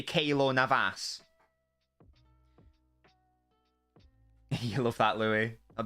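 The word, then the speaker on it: Keylor Navas: of it oh God your kilo Navas pronunciation is mildly infuriating why should it be Navas or something okay should be Kayla Navas you love that Louis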